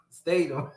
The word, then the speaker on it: Statham: Statham.